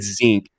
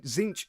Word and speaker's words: Tzeentch: I said Zinc on accident. No, it is. I hated myself for that. Tzeentch is how it's pronounced.